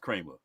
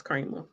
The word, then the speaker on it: Creamer: name is cre it says cre but it's pronounced Kramer it's Kramer I'm telling you but see that's my point